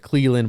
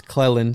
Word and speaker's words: Clelland: I've mentioned you a few times, and I've always said Cleland, but it's Clelland.